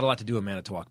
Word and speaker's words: Manitowoc: a lot to do a minute walk by the way it's how you say it yeah probably not hits